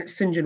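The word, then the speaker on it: St John: conservationists the architect Colin Sinjin Wilson the Sinjin part looks like st. John but that's just more the strange little things the Brits do they pronounce saint Saint John likes engine in the name was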